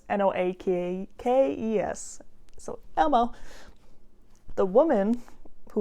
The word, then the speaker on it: Noakes: So the man was Elmo Noakes? I'm going to probably just refer to him as Elmo because I know how to pronounce that. But it's Noakes.